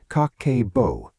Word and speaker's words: Kakeibo: It is called Kakeibo, pronounced Kakeibo, and it translates simply as household financial ledger.